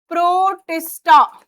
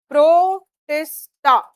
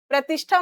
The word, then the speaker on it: प्रोटिस्टा: फिर इन्होंने बोला दूसरा किंगडम प्रोटिस्टा। प्रोटिस्टा। अब इसमें देखो प्रोनाउंस कर पा रहे हो, क्या है ये? प्रोटिस्टा। प्रतिष्ठा मत बोल देना, प्रोटिस्टा, ठीक है।